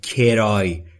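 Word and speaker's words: cry: گریه کردن و البته باید در مورد تلفظش دقت بفرمایید عرض نکردم کرا کرا چون بین سی و r صدایی وجود نداره کرا یعنی گریه کردن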